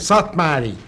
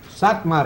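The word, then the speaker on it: Szathmáry: The last name, I want you to pronounce it so it's correct. Satmari. Satmari. I said it, didn't I? Louis Satmari.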